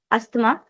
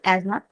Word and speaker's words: asthma: तो एक और दूसरी बात, we Indians pronounce this as अस्थमा। This is asthma. The correct pronunciation in medical terms is asthma.